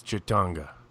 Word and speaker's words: Ci'tonga: That's Ci'tonga.